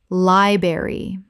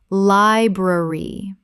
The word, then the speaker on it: library: February February Word three library Common mispronunciation liberry Correct pronunciation library Both the R sounds must be present. This is a three-syllable word.